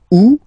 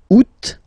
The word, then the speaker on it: août: Août. First option. Août.